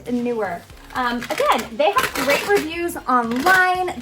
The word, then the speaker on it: Neewer: company and it's pronounced newer newer like more new is the way they told me to remember it and newer okay they write reviews